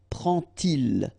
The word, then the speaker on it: prend-il: And so this little D here is in red just to show you that you won't pronounce it like D to make the liaison, but you will pronounce it like T. And so you will get prend-il, prend-il, okay? But then here, prennent-elles, okay? So you get your T and then prennent-elles, all right? So prend-il, remember, they pronounce like T, and here, prennent-elles, all right?